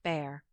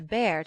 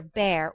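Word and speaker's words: Bhaer: at his horrid name it isn't pronounced either bear or beer as people will say it but something between the two as only Germans can give it I'm glad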